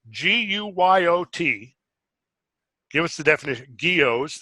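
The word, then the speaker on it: guyots: Geos, it's pronounced geos.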